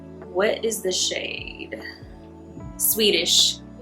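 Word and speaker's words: Sweetish: Swedish is what this is called. But it's spelled sweet, s w e e t i s h. It's not spelled like the country.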